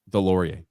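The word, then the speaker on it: Deslauriers: How do you pronounce that last name? Delorier.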